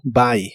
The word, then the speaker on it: buy: Y usarás el verbo buy, que significa comprar. La U de esta palabra la pronuncias como A. Buy.